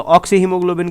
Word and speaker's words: oxyhaemoglobin: And this HbO2 complex is pronounced as, इसको हम बेटा प्रोनाउंस करते हैं एज ऑक्सी हीमोग्लोबिन बेटा, ऑक्सी हीमोग्लोबिन।